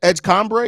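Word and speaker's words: VJ Edgecombe: VJ Edgecombre, is that how you pronounce his name? Edgecombre, yep.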